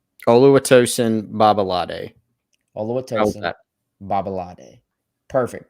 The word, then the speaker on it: Oluwatosin Babalade: this out of the way give the accurate pronunciation of big tree's name oluwatosin babalade although it tells that perfect chris so or